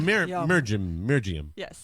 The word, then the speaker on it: Mirjam: The J in the middle. J in the middle. Okay. So Mirjam. Okay. Mirjam.